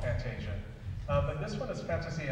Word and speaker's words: fantasia: wrong all along, it's fantasia, okay? Because it's an Italian word, and so they, Italians don't really say j much.